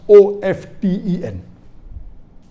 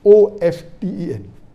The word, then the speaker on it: often: T is not silent, it should be pronounced. Some say T is silent, and then there's a big debate for that.